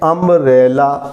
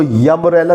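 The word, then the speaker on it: umbrella: एन अम्ब्रेला, इसको यम्ब्रेला नहीं पढ़ेंगे, यू लिखा है तो यू नहीं पढ़ा जाएगा।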